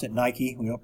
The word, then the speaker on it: Nike: By the way, that's how we pronounce it, Nike. We don't pronounce it Nike.